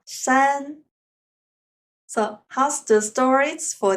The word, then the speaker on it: 山: lessons will be mountains how to say mountains in Chinese it is Shan once again Shan so how's the stories